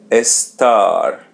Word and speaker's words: estar: Let's separate it into two parts. S t est or e in English. So pronounce it e s est s and the letter r in the end we pronounce it as English r estar estar.